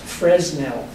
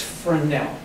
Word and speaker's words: Fresnel: for now the name you would think it's pronounced Fresnel but it's friend now and what he devised is something that was